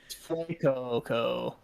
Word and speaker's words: Fuecoco: It's Fuecoco. um It's like his Fuego, but they changed the G to a C, so it's like Fuecoco.